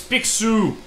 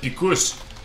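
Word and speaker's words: Picsou: MC duck all right in French it's p it's pxu not pus pxu There You Go pxu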